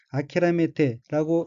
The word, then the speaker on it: 諦めて: 우선 빨간색 줄친 부분을 보면 첫째 줄 첫 번째 어휘는 한자가 살필 채 짜이고 일본어로는 아키라메테라고 읽으며 아키라메테는 체내마다 단념하다는 뜻의 타동사인 아키라메루의 태형으로 아키라메테는 체념하고 단념하고란 뜻입니다.